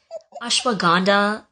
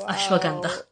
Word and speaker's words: ashwagandha: one who's being corrected like ashwag gandha and Himalayas it's Himalayas and it's ashwagandha I feel like every time